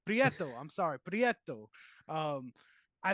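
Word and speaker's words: Prieto: film uh shout out to director photography Rodrigo portio believe that's how you pronounced that I'm trying I'm trying ladies and gentlemen that's all I gotta say prietto I'm sorry prietto um I thought as far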